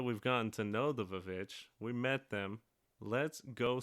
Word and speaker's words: VVitch: No, it's always the Vich. Yes. Because if you look at the title, if you look at the cover of it, it's spelled with two V's.